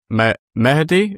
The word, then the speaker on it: Mahdi: You pronounced it the exact Arabic way, which is correct, which is Mahdi. But majority of people do call me Mahdi, as in Yeah, I mean Mahdi rolls off the tongue, but I quite like Mahdi.